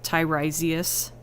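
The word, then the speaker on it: Tiresias: to break it down correct way to pronounce it oh oh your name Thai rise tyrosius that makes sense you know my bad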